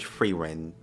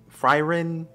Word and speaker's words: Frieren: course the Elvin made frein frin frin I'm just going to say frein that's how they say it in the dub and you see all